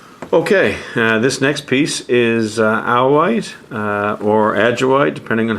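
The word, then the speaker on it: Ajoite: let's move on okay this next piece is owl white uh or addrei depending on how you like to pronounce it apparently the correct pronunciation is ahoy uh this piece comes from uh a place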